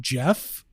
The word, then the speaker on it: Geoff: region that's just called Jeff. So I don't know if I want to reconsider. Where is that? It's in the Sheldamar Valley. I forgot about that. It's spelled Geoff. It's spelled the wrong way.